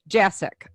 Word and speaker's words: Jasick: how do you say your last name jack jacic okay because i didn't want to attempt it